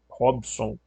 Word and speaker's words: Robson: Esse Rob, o B é mudo, tá? Tem gente que pode escrever Robson com I, tá?